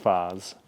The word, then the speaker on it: phase: Phase so I guess in French it's just Faz written the same way but uh pron pronounced differently I actually teach my